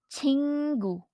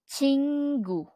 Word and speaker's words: 친구: our object noun friend which in Korean is pronounced as chingu chingu and then the next one we have here